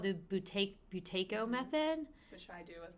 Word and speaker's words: Buteyko: Buteyko is how I pronounce it. Okay, and I've definitely told people about that. So you've done that with your patients. And just so people listeners, it's Buyteko if you want to look that breathing technique up.